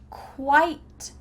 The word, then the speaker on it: quite: Quit, quite, quiet. Quit, it's our short I. Quit, it, quit. Quite, quite is a long I.